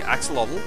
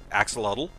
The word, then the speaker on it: axolotl: I mean, it looks like it would be said like axolotl.